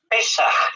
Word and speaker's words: pesaj: palabra hebrea lo saben es pesaj terminado en j y con acento en la e Es simplemente Una curiosidad